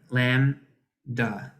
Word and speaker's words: Lambda: letter Lambda and uh the B is silent Lam da and it is the